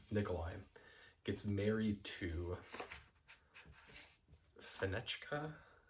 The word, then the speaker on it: Fenechka: Nikolai gets married to Fenechka, I think is how you say that name. Yes, Fenechka.